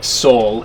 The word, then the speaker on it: Saul: It's actually Saul, S-A-U-L, Leo. To rhyme with Paul.